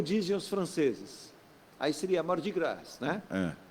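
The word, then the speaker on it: Mardi Gras: os franceses aí seria mar de graça né é Não pronuncio s é mais de guerra eles põem essa mas não pronunciam em Nova Orleans inclusive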